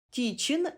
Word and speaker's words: тітчин: футболіст вимовляємо і чуємо тітчин пишемо тічин вимовляємо і чуємо вогко пишемо вогко вимовляємо